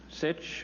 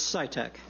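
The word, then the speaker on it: Sitek: time next we have sich or sita followed by patty and then laurie levi or levy is here welcome to the senate oversight committee sir i'm really sorry about my mistakes in pronouncing your name it's scitec scitec yes thank you oh you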